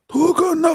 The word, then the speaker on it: Tokon: Tokon Fighting Soul is the correct pronunciation.